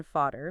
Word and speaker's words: Vater: Think of Vater meaning father, where the A is long, versus Holly meaning hall, where the A is short.